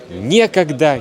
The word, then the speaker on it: некогда: Вы, может быть, знаете такие слова: некогда, негде, некуда и так далее. Ударение обычно падает на е. Некогда, негде, не с кем, незачем.